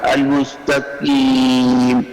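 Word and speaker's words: المستقيم: کے مخرج میں، پھر آپ یہ لفظ ہوگا المستقیم، المستقیم نہیں، المستقیم، زبان کی جڑ کو پیچھے دبائیے تھوڑا سا تاکہ وہ قوے کے متصل جا کر لگے۔ پڑھیے المستقیم۔ عدم اظہار حلف میم بعد یا مدہ کے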